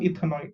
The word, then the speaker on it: ethanoate: big test tube will be left with sodium ethanoate.